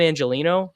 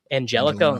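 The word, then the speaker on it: Angelichio: the guy they brought in, Brian Angelino, I think is how you pronounce it. It's doesn't have a G. It has a ch in it. Angelico.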